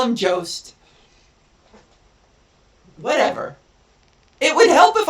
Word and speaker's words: Jost: And then Google told me it was Youst. That's not even... Go fuck yourself. How to pronounce... See, it's times like these, I wish I had a rewind button that I could go back and... It's not Youst. Ugh. Jost.